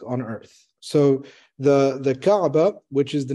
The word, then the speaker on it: Kaaba: first one is what is the significance of Kaaba I don't know if I'm pronouncing that right yep that's correct so we'll